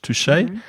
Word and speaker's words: touché: Well, the thing is it looks you you'll see that word in English and it looks like touch, but you shouldn't pronounce it as touch.